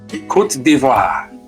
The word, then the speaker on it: Côte d'Ivoire: And it's pronounced Côte d'Ivoire. Côte d'Ivoire.